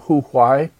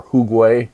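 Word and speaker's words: 胡瓌: artists, an artist named Hu Huai, or Hu Gui, differently pronounced, Kitanese painter, not Han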